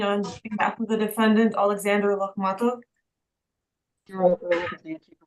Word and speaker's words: Alexander Lokhmatov: It's pronounced Alexander Lokhmatov. Alexander Lokhmatov. You got it.